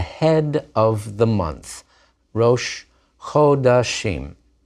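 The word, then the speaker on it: חֳדָשִׁים: of the month, rosh chodashim. And notice how that O vowel of chodesh asserts itself even in the compound shva under the chet in the plural.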